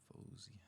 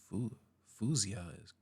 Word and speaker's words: Faouzia: It's pronounced Fia Fia. Fu fuzia. That doesn't even if you if you're American and you pronounce this fu, that doesn't make sense because it's clearly an a.